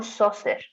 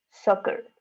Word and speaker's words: soccer: Soccer, no saucer, soccer.